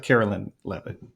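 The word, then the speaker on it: Karoline Leavitt: So it's Carolyn Levitt is her name. Yeah. I don't want you to have to have that missing Sure. there. Yeah. Okay. Um, so, taking the example of Carolyn Levitt, the press secretary of the White House, like,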